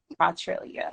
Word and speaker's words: Quatrellyia: so please let me know how do you pronounce it okay so it is Australia okay no no no it's my pet peeve